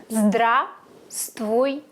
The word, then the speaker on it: Здравствуйте: Please don't pronunciate the first V. Just Здравствуйте. Здравствуйте.